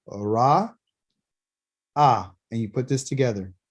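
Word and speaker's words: רָאָה: Ra'ah, which is recognized by a resh, an aleph, and a hey.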